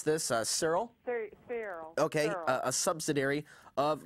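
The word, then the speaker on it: Searle: Also, Donald Rumsfeld was the president of, how do you pronounce this, Cyril? Cyril.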